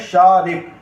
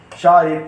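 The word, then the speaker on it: شارق: हमारा पूरा बनेगा, तो इसे हम शारक भी पढ़ सकते हैं। तो जो शारिक, इस पर रे पे जो हरकत यूज़ करी है हमने, वो हरकत यूज़ करी है ज़ेर हरकत हमने यूज़ करी है शारिक।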